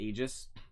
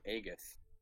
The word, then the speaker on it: Aegis: Aegis and despite that people still mispronounce ages they still call it he just he just that's not easy I always I always heard people say agus that's an egregious mistake no bother me Aegis